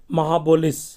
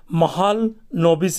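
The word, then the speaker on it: Mahalanobis: Professor PC महाबोलिस। Okay, इसका pronunciation को देख लेंगे, महालनोबिस इसका प्रोनाउंसिएशन होगा।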